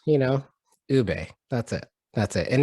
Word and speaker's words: Ube: feels when you butcher 3 letters, you know, Ube, that's it.